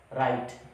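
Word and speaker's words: write: तुरंत बाद R आ जाए तो आपका W साइलेंट हो जाता है। जैसे राइट, राइट मीन लिखना, रॉन्ग, रॉन्ग मतलब गलत।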